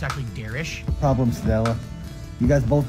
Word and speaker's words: Derich: He actually told me later it's actually Derish.